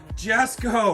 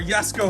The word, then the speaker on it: Jesko: We've got Konas Egg, Jesko, or Yesko, however you want to pronounce it, versus the C8R.